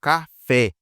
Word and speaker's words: café: Por exemplo, café. Pode ver que a sílaba fé é mais forte.